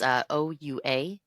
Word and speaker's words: Ouachita: Okay, so Arkadelphia, deep within the pristine foothills of the Ouachita. Ouachita is what I'm going to pronounce it as. It's Ouachita Mountains in southwestern Arkansas.